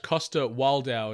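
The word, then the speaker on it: Coster-Waldau: it in action yeah yeah but no nikolaj Costa wildau is how you pronounce his surname how did they forget that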